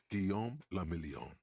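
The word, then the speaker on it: Guillaume Le Million: Gon Lamelon. Lamelon. If it doesn't rhyme, you're not pronouncing it right.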